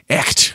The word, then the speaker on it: Echt: Echt, I think is how you say it. It's German.